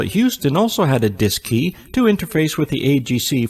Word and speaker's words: DSKY: digital display and keypad known as the dsky pronounced disk key on board both the cm and lm mission control at houston also had a disk key to interface with the